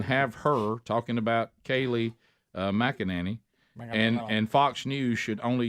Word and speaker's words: McEnany: McEnany, is that how you say her name?